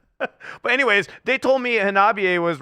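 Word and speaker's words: Hanabie.: But anyways, they told me Hanabiye was right during the interview, so I was like, okay, Hanabiye. That's why I say it like that. I don't think Hannah is right. Hanabiye. No, it's not Hannah.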